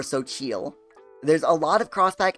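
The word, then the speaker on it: Xochitl: Xochel is a feminine name of Mexican origin, and is pronounced Xochel, or Xochil.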